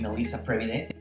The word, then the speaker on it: Melise Previde: series so today we're going to be interviewing melissa previde is that the right pronunciation yes it's okay Melisa Previde is an